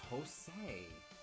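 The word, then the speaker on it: José: Um, some people pronounce the J as a J or as an H really because I know Jose is like a thing in Spanish.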